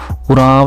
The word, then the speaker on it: उरांव: भी वर्णित करता है अंग्रेजी में ओ अक्षर से लिखे जाने के कारण इस समूह के नाम का उच्चारण उराव लिख किया जाता है झारखंड छत्तीसगढ़ में उराव